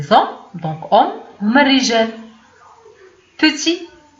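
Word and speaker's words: petit: بتي ما نطقناش هاد تي ما بانش، ولكن في الكتابه بانت، هو صغير.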